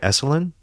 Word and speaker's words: Esalen: Am I pronouncing right? Esalen?